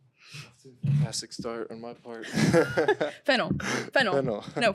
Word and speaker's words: Fennell: Fennell. No, Fennell.